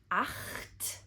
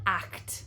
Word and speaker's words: acht: Did you hear "acht"? Not "act".